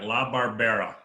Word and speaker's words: Labarbera: What's the correct pronunciation of your name, brother? Everybody messes it up. It's all right. Labarbera.